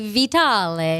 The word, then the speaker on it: Vitale: Well, if you were in Italy, it would be Vitale. Vitali.